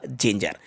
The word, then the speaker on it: ginger: के बाद ई है, तो यहाँ पे इसको जिंजर पढ़ा जाएगा। इसका जो करेक्ट प्रोनाउंसिएशन होगा वो होगा जिंजर।